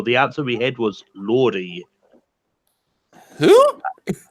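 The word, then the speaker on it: Lorde: It was Lordy. What's a Lordy? But the next question is... Is that a girl? Oh, the Royals girl. No, that was Lord. I thought you were just saying her name wrong.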